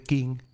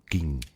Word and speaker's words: Qin: Sí, ya sé que eso tampoco te dice nada, pero ¿y si te digo que el vocablo Qin en realidad se pronuncia de forma parecida a Xin?